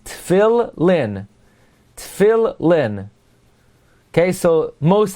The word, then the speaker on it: Tefillin: pronounce it therefore is it's as if they're two lamids Phil Lynn Phil Lynn okay so most accurately Phil Lynn it's like there's a